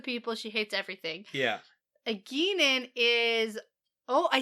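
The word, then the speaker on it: Egeanin: Eginen is...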